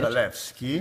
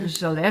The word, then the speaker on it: Zalewski: the pleasure of meeting Pawel Daniel you say Zalewski. Zalewski. That's the proper pronunciation.